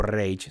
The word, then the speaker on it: Reich: unificar Alemania para crear el Ray o rage si lo pronunciamos literalmente en español pero qué es el